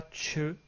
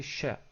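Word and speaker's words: ش: En anglais, on l'aurait écrit plutôt avec un SH. Donc c'est pas che, c'est cha, comme en français. Donc c'est cha.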